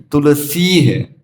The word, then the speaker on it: तुलसी: दिया, वृंदायै तुलसी देव्यै, तो तुलसी नहीं है तुलसी है, सी लंबा है, जो दीर्घ है उसका दीर्घ उच्चारण करें, उसको शॉर्ट ना करें।